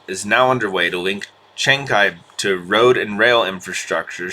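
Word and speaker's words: Chancay: The pronunciation is Chenkai, not Chansei.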